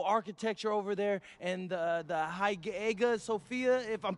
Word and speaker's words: Hagia Sophia: And one thing I'm really looking forward to is I hear they've got a beautiful architecture over there, and the Hagia Sophia, if I'm pronouncing that right, is supposed to be fire.